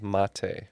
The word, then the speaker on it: mate: This is brewed like a tea, but it's not actually in the tea family, and it's called mate, which is spelled the same as mate.